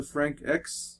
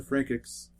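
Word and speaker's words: Franxx: X it's weird it's it's Frank with X two x's at the end but they pronounced the X so I think it's darling and the Frank X and that is a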